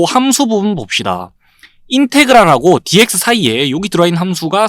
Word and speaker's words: 인테그랄: 제일 먼저 요 기호 인테그랄이라고 읽으면 되고요. 인테그랄.